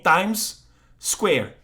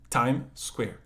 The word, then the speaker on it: Times Square: Quando você tem duas consoantes, uma morre na pronúncia. Que nem Times Square.